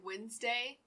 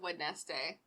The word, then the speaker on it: Wednesday: reading i say um i have to force myself to say wednesday instead of wood nest day yeah sometimes that is